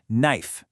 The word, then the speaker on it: knife: Let's say these words the right way and just totally ignore those sneaky silent letters. You ready? Knife, just knife. Listen, just listen. Our just our right just right.